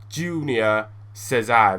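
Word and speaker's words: Júnior César: What a tank, Junior Cesar, that's how you say his name.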